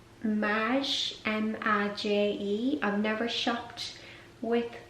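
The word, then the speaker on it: Maje: the second dress it's by a brand called mash m-a-j-e i've never shopped with the brand there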